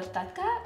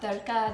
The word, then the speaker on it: Tadka: In this recipe, I'm going to create what's called a Tadka or a Tadka, depending on where in India you live and your pronunciation.